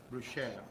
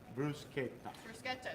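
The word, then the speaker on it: bruschetta: they they see and they think it's uh bruchel or this but sometimes it's hard for me to train people because I know that uh you know everybody doesn't have that pronunciation but it is actually Bruce Kita so the she pronunciation really doesn't exist in the Italian language you see s c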